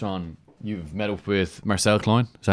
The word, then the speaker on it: Marcel Klein: because you touched on, you've met up with Marcel Klein. Is that how you pronounce his name?